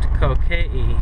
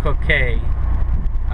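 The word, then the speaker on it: Kōkeʻe: And the name is pronounced Kokee, or Kokee, most of us say.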